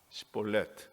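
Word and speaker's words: שיבולת: 시볼렛, 히브리 말에 그 철자가 다 자음으로 되어 있는데 신이라는 말하고 사멕이라는 그 철자가 있어요. 근데 우리말로는 다 시옷으로 쓰는데 하나는 강한 발음이고 하나는 약한 발음입니다.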